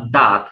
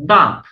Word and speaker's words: দাঁত: অথবা দাগ নরমালি কিন্তু আপনি যখন দাঁত বলছেন তখন কিন্তু হচ্ছে না কেন হচ্ছে না কারণ এখানে একটা চন্দ্রবিন্দু আছে চন্দ্রবিন্দু থাকলে তো আপনি নরমালি বলবেন না দাঁত তখন বলবেন দাঁত দাঁত দাঁত তখন আপনি দ টা নাক দিয়ে উচ্চারণ করতে বাধ্য মানে নাসিকা দিয়ে উচ্চারণ করতে বাধ্য কেন আপনি দাঁতের বর্ণ দ তাকে নাসিকা দিয়ে উচ্চারণ করলেন বলেন তো কারণ চন্দ্রবিন্দু আছে তাই একই রকম ভাবে পাঁচ